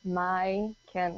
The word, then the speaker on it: Majken: it over here everyone it's a Scandinavian name so you pronounce the J like you do in Bjork so it's m a my can and that's how you